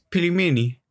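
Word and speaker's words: пельмени: Die hat damals Pelimeni.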